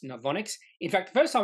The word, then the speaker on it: Novonix: the name completely wrong I think I said no vinix or something like that but it is pronounced novonics in fact the first time I took a